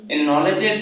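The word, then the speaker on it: knowledge: প্রিয় শিক্ষার্থীবৃন্দ, আমরা প্রথমে এই যে নলেজ অর্থ জ্ঞান, এই কথাটি আমরা সবে জানি, কিন্তু আমরা অনেকে জানি না এই যে আমি নলেজের যে কে আছে, এটা কেন উচ্চারণ হলো না। এটারও একটা নিয়ম আছে।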